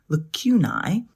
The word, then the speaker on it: lacunae: by not having gaping lacunae, which is, I believe, the way you pronounce the plural for a lacuna, which is a fancy way of saying gap.